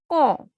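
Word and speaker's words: quand: Qua is pronounced as ka, and the word is con, when.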